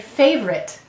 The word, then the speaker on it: favorite: So favorite, and we say favorite. Notice OR is also saying that schwa sound in this word, That's because the stress is favorite. It's right here, and these two syllables are unstressed.